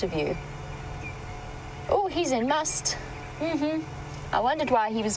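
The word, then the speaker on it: musth: So an elephant bull in must, for those of you unfamiliar with the terminology we're using, to spell it, it is M-U-S-T-H, must, but it is must.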